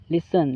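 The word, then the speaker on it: listen: लिसन। लिसन का मतलब होता है सुनना। इसमें भी एस के बाद टी साइलेंट होता है।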